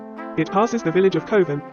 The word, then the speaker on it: Coven: by capability Brown it passes the village of coven Rhymes in cloven and brood rhymes with Rue it passes near to white ladies